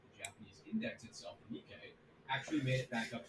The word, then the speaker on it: Nikkei: Nikkei is how we say that one, apparently.